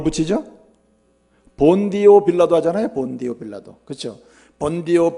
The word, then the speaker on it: 본디오 빌라도: 그러니까 우리가 본도 빌라도 이래도 되는데, 이 발음이 본디오 빌라도입니다. 본디오 빌라도.